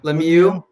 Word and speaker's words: Lemieux: Lemieux.